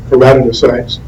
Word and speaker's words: keratinocytes: That's variously pronounced. I prefer the term keratinocytes, which 90% or more